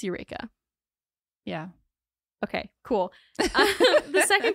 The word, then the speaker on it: Eureka: yes I think you did I called it Rea yeah I think so and it's Eureka it's spelled ridiculously so ignore it's Eureka yeah okay cool the second correction is that